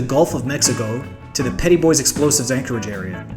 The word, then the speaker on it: Petit Bois: We're going to zoom down in to the Gulf of Mexico to the Petit Bois Explosives Anchorage Area. [yes, they pronounce it PETTY BOYS] You see on my instagram that the radar is making a sad face.